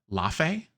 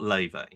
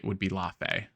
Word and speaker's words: Lafe: It's a strange one because I saw IGN was saying it's not Leve. No, so Leve is an artist. Leve, the artist. Yes. Yeah. Yes. So, but yeah, the Norse pronunciation I think would be Lafe, which makes more sense because it's Fae, right?